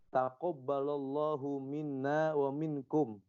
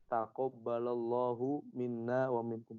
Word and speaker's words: Taqabbalallahu minna wa minkum: Nah, ini dalam kitab Al-Aid dikatakan yang betul kita membacanya gini. Taqabbalallahu minna wa minkum. Taqabbalallahu minna wa minkum.